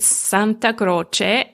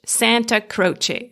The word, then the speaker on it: Santa Croce: So in Italian, you pronounce it Santa Croce, and in English, Santa Croce. So Santa like Santa Claus, and Croce with a ch sound.